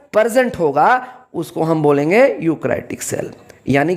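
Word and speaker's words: eukaryotic: ध्यान दीजिए यहाँ पे, यहाँ जो ई है वो साइलेंट है, उसका प्रोनाउंसिएशन नहीं करेंगे। यूकैरियोटिक cell.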